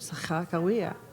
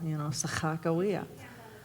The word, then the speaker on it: Sakakawea: in their own language, Sakakawea. Yeah. That's the way you say it in Hidatsa, and that's, no, that's the way you say it in Hidatsa or Crow, Sakakawea.